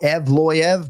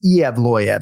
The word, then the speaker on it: Yevloyev: All right, so you can either go Evloyev, but what I go with is Evloyev. So I go 4 syllables because that's what I hear every time I listen to that file.